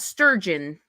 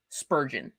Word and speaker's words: Spurgeon: christian things like spurgeon oh no not sturgeon uh spur gin sp spurgeon spelled the same way just with a p instead of a t spurgeon that sounds like